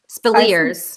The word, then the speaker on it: Speleers: Speleers. Speleers, but Ed Speleers is excellent as Yeah.